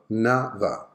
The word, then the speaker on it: another: How many syllables? Correct, 3 syllables. Another. Which one are the unstressed syllables? Okay, the first and the last. So the schwa sound should be present on the first and the last syllable.